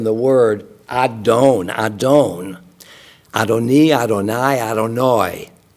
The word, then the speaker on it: Adonai: word Adon Adon adoni Adonai adoni I'm I'm speaking ashkanazi here because the spartic pronunciation is the A and the a are just the a that distinction my father